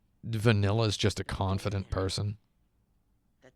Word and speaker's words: Vanille: Oh yeah, I realized that Vanilla, I'm going to call her Vanilla, because in Japanese her name is Banida, which is just vanilla, not vanille.